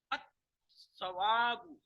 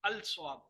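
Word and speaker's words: الثوب: At-sawabu. At-sawabu. I'm not saying as al-sawabu. Lam is not pronounced.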